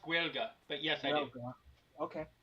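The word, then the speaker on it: Gaeilge: It's pronounced Guelga, but yes, I do.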